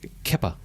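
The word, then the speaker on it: Kepa: syllables and bizarreness but he named his son keppa k-e-p-a it's apparently basque for peter her pedoru and so that's an interesting i don't i've never met a keppa but but it's certainly pronounceable if you see the k-e-p-a you're going to say kappa did they announce it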